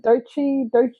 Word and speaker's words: Doechii: Is it Doechii? How do you pronounce?